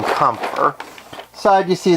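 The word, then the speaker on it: Kämpfer: This is a review of the robot Damashii, or Robot Spirits, figure number 252, the Kampfer. At least I believe that's how it's pronounced. It is German, if I'm not mistaken.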